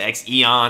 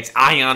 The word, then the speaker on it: X-EON: the X EO in I actually pronounced it wrong throughout the entire video I say like the Xeon or the xon or something like that